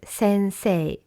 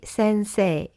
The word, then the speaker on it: Sensei: And then Sensei with the A flowing gently, almost like a long A. So you can repeat again after me. Hayashi Sensei. Hayashi Sensei.